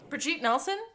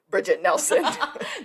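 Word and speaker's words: Brigitte Nielsen: Brigitte Nelson? Who is not Bridget Nelson.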